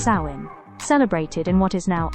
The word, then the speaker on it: Samhain: The origins of Halloween trace back over 2,000 years to the ancient Celtic festival of Samhain, pronounced sow-in, celebrated in what is now Ireland, the UK and northern France.